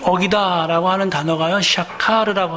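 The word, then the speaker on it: שקר: 여기 어기다라고 하는 말씀을 사전에서 찾아보니까요, 히브리어인데요, 이 어기다라고 하는 단어가요, 샤카르라고 하는 발음의 히브리 말이 쓰였어요.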